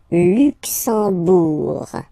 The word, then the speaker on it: Luxembourg: Okay, final G not pronounced, and then when you combine this M here, you get the sound en. You don't pronounce the M at all, it's this nasal en, okay?